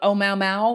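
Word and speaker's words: ʻOumuamua: so aptly pointed out I'm going to try to pronounce it it's oh Mao Mao and it sounds like that song Oh Mao Mao but it's not it's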